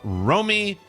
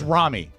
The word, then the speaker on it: Rami: Dear Mike, Rob, and Oscar, I would like to wish a boss birthday to my brother-in-law, Romy. Is that am I pronouncing Rami, it? it's Rami.